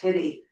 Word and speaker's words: Huette: Yeah, but it's pronounced like the doll that got lost, Hitty.